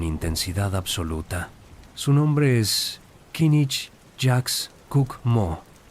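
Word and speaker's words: K'inich Yax K'uk' Mo': Su nombre es Kinich Jax Cook Mo, pronunciado Kinich Jash Cook Mo.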